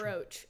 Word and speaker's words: brooch: her, apparently it's metal pronounced brooch. Brooch is such, I want to say brooch. Yeah, not I wouldn't say brooch if I were you.